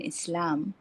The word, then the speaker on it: Islam: pronounced the s in Islam does not sound like the s in is it's soft like in soft and the L is not heavy like in lie or low but light like in